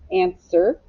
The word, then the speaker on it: answer: word answer answer okay this is a tricky word answer a n and sir now it has a silent w you have to remember to put that w in there answer all right let's map